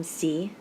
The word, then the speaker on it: sí: I actually hope that you have, noting the difference between sí and si. They're pronounced the same way because there's only one syllable. There's only one syllable there to stress.